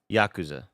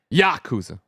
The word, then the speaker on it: Yakuza: supposed to say it Yakuza Yakuza no there too you're putting too much in the second syllable first syllable only Yakuza Yakuza Yakuza yeah yaku